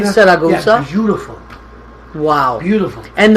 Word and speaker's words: Siracusa: Taormina, Siracusa, You said it right, Siracusa.